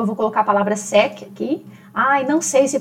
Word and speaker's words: sec: Vamos supor, eu vou colocar a palavra sec aqui. Ai, não sei se pronuncio C ou não.